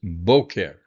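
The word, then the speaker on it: בוקר: And then for and that's masculine in the morning, masculine is boker. Emphasis on the first syllable.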